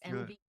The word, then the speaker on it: NVE: at the end of October and did I pronounce the name of the agency correctly you did it's correct it's NV yes NV so I want to learn all